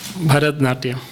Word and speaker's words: Bharatanatyam: a type of dance, Bharatanatyam dance? Is that, how do you say that, Doctor? Bharatnatyam. Bharatanatyam. Bharatnatyam. Bharatnatyam. Natyam means dance.